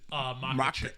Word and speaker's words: Makhachev: How do you say his last name? Makhachev. Makhachev? Yeah. Okay.